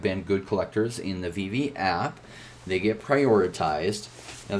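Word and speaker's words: VeVe: good collectors in the vv app they get prioritized now the vv app you can download on your phone it's just vv just spell like this is spelt v-v v-e-v-e and you can download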